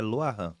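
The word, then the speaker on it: Rah Ahan: Rahan é escrito Rahan, mas a pronúncia é Loahan.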